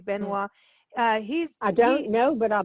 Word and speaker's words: Benoit: I don't know if you know Tab Benoit is a guitarist. We met him in Natchitoches. What's his name? Tab Benoit, if I'm pronouncing it. Tab Benoit. Yeah, it's N-O-I-T. Yeah, N-O-I-T, Benoit.